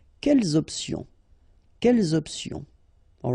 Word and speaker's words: quelles options: Option is starting with a vowel, you should make the liaison between the two. Quelles options?